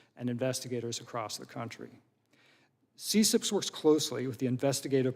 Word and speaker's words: CCIPS: and intellectual property section which is abbreviated ccips and we pronounce it cips is a section within